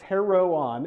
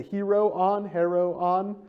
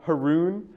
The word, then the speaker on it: heroon: Now, when you see this term, the Heroon, all right, it's Heroon, and the little umlaut there designates a new syllable. That's why it's like the Heroon, rather than the Haroon.